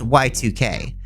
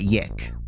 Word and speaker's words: YIIK: This game is spelled YIIK, and it's pronounced Y2K, but some like to call it YIIK.